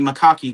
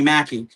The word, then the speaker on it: Mackie: If I'm mentioning a name, I need to pronounce it right because I'm not gonna be one of those Anthony Macaki guys when they're saying Anthony Mackie.